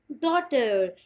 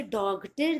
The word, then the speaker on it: daughter: First word is DAUGHTER, डॉटर। इसे डॉगटर नहीं बोलेंगे, इट्स डॉटर यानी कि बेट।